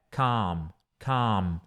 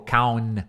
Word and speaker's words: calm: E calmo é calm. E tem que fechar a boca no final. Então não é calm, ou calm. Não, calm. Ó, a boca fecha, ó.